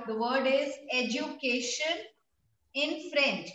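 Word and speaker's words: éducation: Now it's called, the word is education in French. It has same spellings, but how do we pronounce it? We say education. Educa, and this E has accent ugly.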